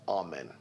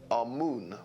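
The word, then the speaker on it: Amun: was our men now our men is the pronunciation that the Hebrews give it and some scholars agree to use that pronunciation our moon is the pronunciation given to it by one of the old European scholars Plutarch and the language of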